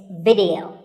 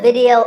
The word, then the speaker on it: video: watching right now video the important thing is that both the i and the e are pronounced as short if sounds it's not video it's video if you watch a video on youtube or facebook